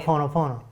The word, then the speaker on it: Ho'oponopono: Because I can't even pronounce that. I know it's Hawaiian. Ho'oponopono.